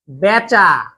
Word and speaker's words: বেচা: যেমন ঠেলা সামলা আজকে বেচা।